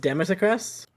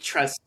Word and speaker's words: Dimitrescu: Is it just Demisecrest? Demisecrest? Dimitrescu. Yeah, the U is silent because it's French. It's French. Yeah, French. saying Demisec is so much fun. True. I don't know what you're doing in the middle there because it's definitely Dimitrescu.